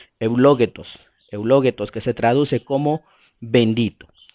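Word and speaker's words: εὐλογητός: Ahí aparece en el idioma original una palabra que se pronuncia eulogetos, que se traduce como bendito.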